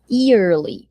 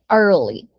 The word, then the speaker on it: early: Muita gente fala early, mas a pronúncia correta é early, tá?